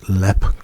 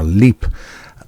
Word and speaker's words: Leap: to visit a place called LEP Castle or leap known locally as LEP so it's spelled l e a p castle and it's the